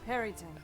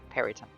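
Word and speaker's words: Peryton: Matthew Mercer or whoever says it's pronounced. Perryton. Perryton. Marisha says Perryton. it's Perryton. Puritan.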